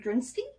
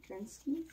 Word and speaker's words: Gretzky: Wazane Grinsky? What? How do you say it? Wazane Grinsky? Take another look. Wayne? Wayne. Gretzky?